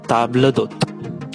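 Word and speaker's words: table d'hôte: आला कार्ट उसका प्रोनाउंसिएशन है, प्लीज नोट, आला cart, and the second one इज ताबला दोत। वो एक ही साथ बोलना है आपको, ताबला दोत, आपको अलग अलग नहीं बोलना है।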